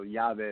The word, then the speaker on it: YaVe: correct hobby art now is job a tequila yoga yeah yeah that means key in Spanish so yoga is how you pronounce it but in terms of who inspired